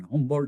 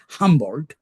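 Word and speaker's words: Humboldt: philosopher dilm F Hol in German pronunciation humbold in English humbl you know was a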